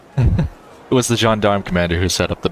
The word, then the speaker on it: gendarme: Yeah, I'm glad I didn't try and say that, because it's pronounced gendarme. It was the gendarme commander who set up the barrier, carrying in his heart a desire to return to the warmth of his home.